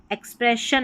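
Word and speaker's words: expression: जबकि एक्सप्रेशन में एक्सप्रेशन में शन करके आ रहा है।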